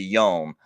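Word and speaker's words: יום: Or if it was a singular, it would be yom, YOM. And that's how you pronounce it in Hebrew, right?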